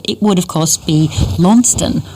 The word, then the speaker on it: Launceston: for our pronunciation of Launceston in Tassie. If you were talking about the town in Cornwall, it would, of course, be Launceston, with a silent C-E-S in the middle, like Worcestershire sauce.